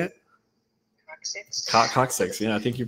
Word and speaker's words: coccyx: it correctly how do you say it Scott coccyx you know I think you pronounce it right okay so so there's some